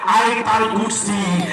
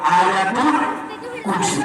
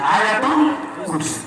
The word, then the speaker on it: আয়াতুল কুরসি: সূরা বাকারার মাত্র একটা আয়াত 255 নম্বর আয়াত, বাঙালিরা বিকৃত উচ্চারণে জানে কয় আয়াতুল কুরসি, কিন্তু এটার এক্সাক্ট প্রনাউন্সিয়েশন, এটার কারেক্ট উচ্চারণ হলো আয়াতুল কুরসি, আয়াতুল কুরসি।